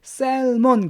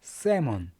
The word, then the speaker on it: salmon: 많은 분들이 셀몬 그러는데 셀몬이 아닙니다. 세몬. L이 묵음이에요. 그냥 세몬 이렇게 발음하셔야 돼요.